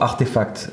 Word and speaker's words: RTFKT: Alors, Donc, Eric, c'est très important ce que tu dis sur Artefact, effectivement, qui s'écrit d'ailleurs RTFKT, mais qui se prononce Artefact.